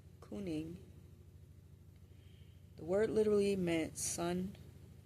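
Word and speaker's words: cyning: So um the Germanic development proto uh Germanic kuning tribal leader old English kinging pronounced roughly couning.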